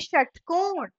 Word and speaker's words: षटकोण: श श से षटकोण। इसका भी उच्चारण श होता है, लेकिन उसको लिखने का तरीका अलग होता है।